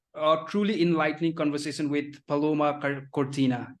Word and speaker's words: Paloma Cortina: A truly enlightening conversation with Paloma Cortina. Am I pronouncing it correctly? Yeah, Paloma Cortina.